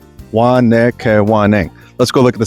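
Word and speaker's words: Wahnekewening: I sometimes just call it Waka Waka if I forget how to pronounce it, but it's Wanakawanang.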